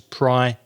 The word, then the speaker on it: priority: because of the syllables it has four syllables priority and it's the second syllable that's strong so we say priority